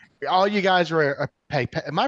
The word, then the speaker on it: Pepette: All you guys were a pipet. Am I pronouncing it right? Pepette.